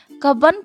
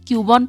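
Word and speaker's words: Cubbon: মানে সম্পর্কে জানতে পারি সি U double B ও এন এবার আমি পড়েছিলাম কিউবন পার্ক ইশাব বলল কাবন পার্ক যাই হোক রাস্তায় যেতে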